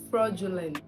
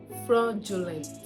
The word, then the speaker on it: fraudulent: not credulous credulous credulous it is pronounced as fraudulent fraudulent fraudulent not fraudulent fraudulent thank you it is